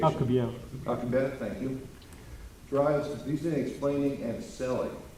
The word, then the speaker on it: Alcubierre: Alcubierre, what's the proper pronunciation? Alcubierre.